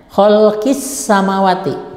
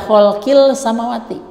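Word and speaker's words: خلق السماوات: jelas sakit terangnya begitu Jadi alif lam nya ada gitu kan tapi tidak dibaca sehingga dibacanya khalqis samawati tidak boleh dibaca hole kill samawati khalqis samawati itu kemudian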